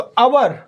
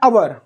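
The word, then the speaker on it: hour: तो अवर इसको ऐसे पढ़ते हैं, एच देख के कंफ्यूज मत होना, इसका प्रोनाउंसिएशन क्या है, अवर, तो एन आएगा।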